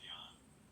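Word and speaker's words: Jon: How come Jan is spelled J-O-N? Yeah, because when you're from that part of the world, J-O-N is Jan.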